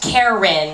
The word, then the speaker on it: Keren: spells her name k r n uh it's pronounced Karen although most people pronounce it Kurt meter's girlfriend